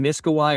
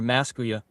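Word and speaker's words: Miskawayh: Hakim Abu Ali ibn Miskawai or Maskuya, I've seen both pronunciations.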